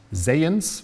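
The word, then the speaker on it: Zajonc: Es gibt so eine Art Vertrautheitsgefühl, das hat ein Forscher, der heißt Zayens, wird er ausgesprochen, Zayong geschrieben, 1968 herausgefunden, Mere-Exposure-Effekt hat er das genannt.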